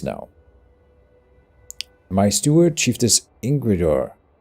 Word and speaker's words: Ingrid: my steward chief is ingrid yeah ingle okay that's the danish modern way to pronounce that i think uh informs me that